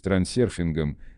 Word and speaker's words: трансерфинг: Произносится трансерфинг так же, как пишется. Если кому-то нравится выговаривать его на английский манер на здоровье, следует только иметь в виду, что звука «ё» в английском языке не существует.